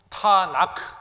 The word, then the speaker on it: 타나크: 그러니까 TNK 말하기 어려우니까 거기다가 A자를 붙어갖고 타나크, 이게 구약 성경이었습니다.